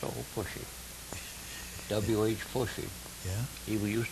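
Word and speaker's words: Pushie: great reunion seeing old Pushy. We always called him Push. William Henry, Pushy. Four names. Yeah. And Pushy, P-U-S-H-I-E. So that was my grandfather's name. Pushy? Pushy, yeah. Yeah, they pronounced it Pushay sometimes.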